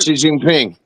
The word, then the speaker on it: Xi Jinping: Xi Jinping.